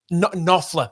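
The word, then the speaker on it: Knopfler: Um, written because old mate, now I can't pronounce his last name. Mark, is it um, Copler? Nofler.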